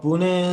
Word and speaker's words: Pune: location you're at you said how do you pronounce it and where is that actually in india i mean uh pune is uh you must be knowing about mumbai